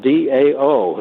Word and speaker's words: Dao: That was meeting Dao, D-A-O, is the way you say his name, Dao, and Dao means something.